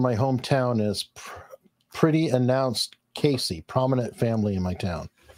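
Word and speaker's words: Cayce: Edgar Casey is from my hometown, is pretty announced Casey, prominent family in my town. I'm just saying what Willie pronounces it, so.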